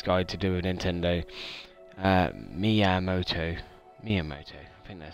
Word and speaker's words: Miyamoto: Just looking up here, Minimoto, I think that's how you pronounce the name, Japanese guy to do with Nintendo, Miyamoto, I think that sounds right.